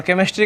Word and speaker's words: केमिस्ट्री: और केमिस्ट्री का स्पेलिंग बताइएगा। CHEMISTRY। यहाँ CH से चौ नहीं होगा, क हो जाएगा। ठीक है ना, केमिस्ट्री में केमिस्ट्री नहीं पढ़िएगा इसको।